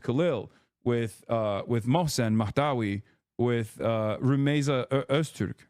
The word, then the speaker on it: Rumeysa Öztürk: with Mohsen Mahdawi, with Rumeysa Öztürk, right? Like, they're... Wait, did I say her name? I keep saying her name wrong. Okay, no, I did say it right. Rumeysa Öztürk is the person.